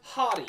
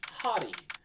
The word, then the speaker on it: Hotti: And it is unfortunately pronounced hottie. It's not hot. It's hottie.